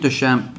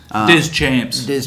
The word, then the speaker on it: Deschamps: But so I think Duchamp changed the. I must pronounce his name correctly. Deschamps. Champs.